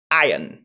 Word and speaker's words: iron: Iron. Non, on dira plutôt iron sans le R.